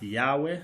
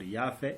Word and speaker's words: Yahweh: The term is pronounced in different ways, but Yahweh or Yahweh is the most common ways it will be pronounced.